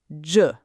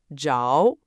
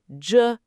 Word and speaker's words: 着: Zhe is pronounced "juh". Le is pronounced "luh". Not "jow". Not "leeow". In this grammar pattern, it's "juh" and "luh".